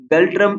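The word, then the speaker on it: ngultrum: question है girl ट्रम सो ये गल ट्रम है जी एन जो है इसमें साइलेंट है गल ट्रम इज the currency of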